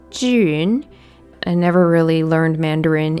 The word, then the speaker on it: Zhiyun: and I'm supposed to be Chinese um it's pronounced Jun I never really learned Mandarin in a serious